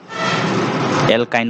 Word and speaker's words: এলকাইন: এন ই মানে আইন এলকাইন বলে উচ্চারণ করে দোকানে ওয়াই এন ইটু